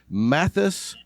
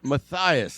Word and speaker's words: Mathias: with us we have matthys clock did I get the I I think I said your first name wrong yeah you did it's it's okay it's Maas Mathias there we go I